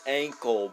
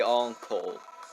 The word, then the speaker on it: Ankohl: ruins or encore ruins i've always been pronouncing it as ankle but now that i think about it it's probably on coal just because you know ank on coal that that's what i think the etymology behind that name is but